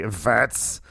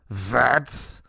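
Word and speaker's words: Wirtz: Um, I was very excited uh to see vets. Vets. Vets. That's how you say it. The W is a V sound.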